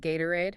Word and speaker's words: Gatorade: The T in Gatorade is a flap T because it's between the A and the O sound which reduces. And notice the second syllable uses the schwah. Aurade, not gate.